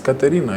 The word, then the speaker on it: Katerina: Because how do you pronounce Catherine in Kinyarwanda or in Swahili? It's Katerina, you know?